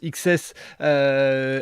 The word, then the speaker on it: XCSS: explique-nous ce qu'est ce projet xcss qui se prononce XS explique-nous un petit peu